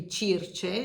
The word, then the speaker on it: Circe: And so this is Natasha's Circe, I think you could pronounce it. In Italian, it would be Circe.